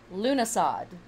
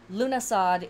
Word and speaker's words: Lughnasadh: about the name lunasad it is pronounced a couple different ways um lunasad is what i learned emphasis on the lou or luge at the beginning lunasa is another way that this word is pronounced and of course another